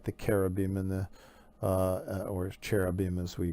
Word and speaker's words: cherubim: heavenly beasts like the Caribbean and the or cherubim as we pronounce it sometimes and the Seraphim which are